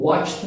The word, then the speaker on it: watched: A negativa, claro que tem o segredinho do watched não lê com ed, né? Você lê com t, mas esse é um outro caso.